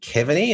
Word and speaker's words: Keaveny: It is the new Lord Mayor of London, Vincent Keaveny. Is that how I say it, Vincent? Keaveny is how it's pronounced in the States, yeah.